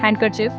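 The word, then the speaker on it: handkerchief: हैंडकरचिफ यहां D silent होता है और आर बहुत सॉफ्टली बोला जाता है।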